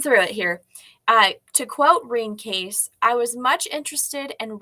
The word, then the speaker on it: Rene Caisse: Johnson, or Johnston, we'll just say Johnson, gave the 8-herb formula to a Canadian nurse named Rene Caisse, and it is pronounced Rene Caisse.